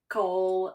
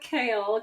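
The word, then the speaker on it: Chaol: us about kale westall AKA Cole AKA CH everyone has a different pronunciation CH yeah but we're going with kale kale westall is from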